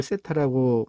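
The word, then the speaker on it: θ: 자, 각의 크기, 이 각을 세타라고 몇 도인지 모르는 거를 x라고 대부분 놓는데 여기 각도에서는 세타라고 놓습니다. 세타인데요. 발음이 세타. 네, 세타로 읽어주시면 되겠습니다.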